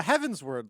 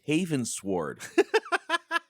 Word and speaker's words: Heavensward: Uh Heavensward like you know, I shot a rocket Heavensward. Oh, it's Heavensward. I thought it was Havensword.